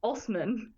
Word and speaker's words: Assman: He says he pronounces it Assman.